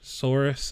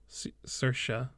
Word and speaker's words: Saoirse: I need to not get this name wrong anymore. Sorce? Right? Saoirse.